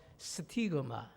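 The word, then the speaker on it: στίγμα: 흔적을 가졌다.이 흔적이라고 하는 헬라어 단어가 뭐라고 읽다라면요? 스티그마. 스티그마 이렇게 읽습니다.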